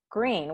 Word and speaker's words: Greene: is green that's green with a silent e at the end and i just moved